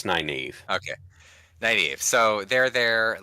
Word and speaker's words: Nynaeve: Again, I want to pronounce them like but Nynaeve. Look, it's Nynaeve.